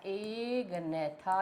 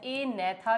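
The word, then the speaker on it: Agnatha: तो एक डिवीजन है बेटा एग नेथा या ए नेथा भी बोलते हैं। आपकी मर्जी है जी को साइलेंट कर लीजिए। बोलने का ढंग वही सही होता है। जी इज साइलेंट हियर।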